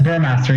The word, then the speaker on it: Burmeister: how do you say your surname? You said it right. But Burmeister. Burmaster? Oh, yes, Burmaster, yes. Sorry, I thought you meant my first name.